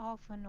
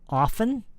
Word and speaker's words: open: Do you want to open one of these? Again, she says often. No, not often. Open. Open. Not often.